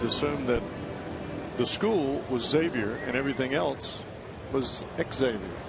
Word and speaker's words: Xavier: here last night that his name is actually pronounced xavier of course the folks over at xavier university they get livid and they're referred to often times by national pundits as xavier but he is xavier paul like xavier nady i just always assumed